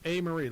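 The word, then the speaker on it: Amarie: Her name is A. Marie, like you spell it A-M-A-R-I-E, A. Marie. Yeah. Like kind of Marie with the letter A in front of it.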